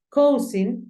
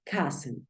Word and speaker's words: cousin: Cousin no se pronuncia igual como se escribe. Se pronuncia cousin, cousin.